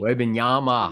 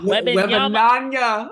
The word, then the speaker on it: Wembanyama: I don't even know how to pronounce his last name. Wembanyama. Wembanyama.